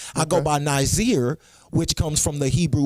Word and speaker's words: Nazir: Nazir. Yeah. Nazir. Right. Now, is yours spelled with Nazir or Nasir?